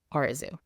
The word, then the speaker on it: Arezou: always posed a problem despite literally being pronounced the way it's spelled Oru meeting new people always